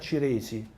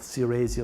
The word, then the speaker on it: Ciresi: Her name is Rita Ciresi. That's the Italian pronunciation. Suppose she calls himself Ciresi or something like that.